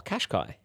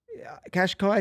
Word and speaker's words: Cascais: Qashqai? Cascais is how you say it.